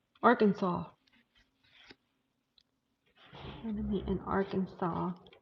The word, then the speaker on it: Arkansas: Yeah, Desi and I are going to meet in AR or Kansas. That used to irk me when people used to say it like that. Arkansas.